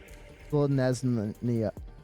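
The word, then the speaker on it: Selesnya: I struggle saying the last two syllables. Because I want to say Nia instead of Leah. Wait. Slanesnia. Slanesnia? I think it was Slanesnia, and I kept saying Leah instead of Nia.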